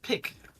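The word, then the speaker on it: pik: i k but it's it's pronounced the exact same way as pick in pickaxe I see it was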